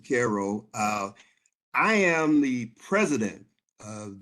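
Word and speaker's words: Cairo: Caro, we pronounce it Caro.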